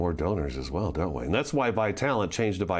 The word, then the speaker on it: Vitalant: everybody changed over to one new name pronounced by talent so that people would